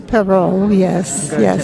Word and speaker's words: Perot: think of a pear plus an O. Oh, okay. Perot. Oh, Peru.